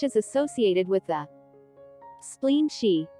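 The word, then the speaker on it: xi: associated with the spleen she pronounced like she which connects the whole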